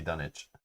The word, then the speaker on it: Dunwich: sided yeah bob i i like switching how i pronounce dunwich just to frustrate people who say it should be done itch done itch rob likes